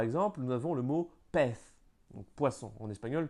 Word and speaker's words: pez: Tous les Z de la langue espagnole se prononcent comme un F, hein, le TH espagnol. Le TH anglais. Par exemple, nous avons le mot pez, donc poisson, en espagnol pez, ou bien una vez.